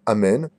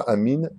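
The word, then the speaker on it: אמן: le hé, Shemeh Rabba, Et les autres répondront Amen, pas Amin ni Amen Dada, et là Amen de tout leur cœur.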